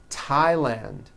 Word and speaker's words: Thailand: with a t H they are pronounced as if they were spelled with a normal T TT like that and these words are Thomas Thompson Teresa Thailand temps like the river